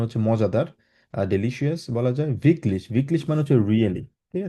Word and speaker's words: wirklich: ভিকলিশ। কারণ এটাকে ডাব্লিউ জাতীয় আচ্ছা, খেয়াল রাখতে হবে, ডাব্লিউ বিটলিশ। সবসময় উচ্চারণ করবেন, যেখানেই থাকুক, যেই জায়গায় থাকুক।